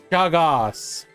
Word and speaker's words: Chagos: Is it Cha or Sha? Sha. So Chagas. Sha. Sha. Soft C. What soft? What do you mean soft C? Like Charlotte. Shaga.